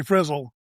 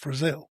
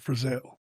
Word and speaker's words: Frizzell: Most people that say Frizzle are based on Mrs.